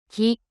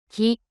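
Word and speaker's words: キ: Ki, Ki, The pronunciation of character Ku in Japanese is something like the combination of KOO in English.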